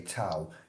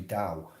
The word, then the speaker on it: Tao: at it as if it would say tal it's actually dao and daoism t-a-o is